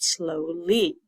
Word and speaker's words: slowly: y as well but the Y in this case sounds like a e with a long e instead of the long I sound it's only wants to